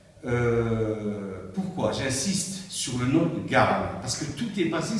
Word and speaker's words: Garn: Je suis Garn. Garn, ça s'écrit G-A-R-N, sans E.